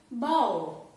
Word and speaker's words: bow: Fifth one, bow. B-O-W. Spelling is, here the spelling is O, but we have to pronounce it as bow. Ow sound.